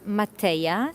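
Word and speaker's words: Mateja: lublana the capital of Slovenia my name is Matea m a t e j a by the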